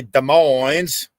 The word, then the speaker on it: Des Moines: Oh, come on, everybody can say Des Moines. Day, S is silent. Moines. Des Moines.